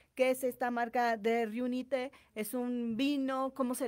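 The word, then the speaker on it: Riunite: de conocer acerca de Reunite. Sí. Uno es el nombre de la marca es Reunite. No Reunit, porque luego lo pueden escuchar así, pero el nombre correcto y la pronunciación correcta es Reunite.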